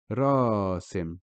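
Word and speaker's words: راسم: Here the aleph is extending the ra, which has a fatha, which makes the sound ra. So it now becomes rasim.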